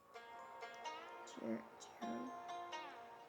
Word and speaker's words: cherub: Verse 24 on wing of the Cher cherub. This word is pronounced as cherub.